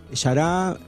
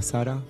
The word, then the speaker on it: Xara: Yará, para que, por la pronunciación, se escribe X-A-R-A, sería para nosotros ir a Sara, pero bueno, es un término brasilero, así que nosotros lo pronunciamos como es.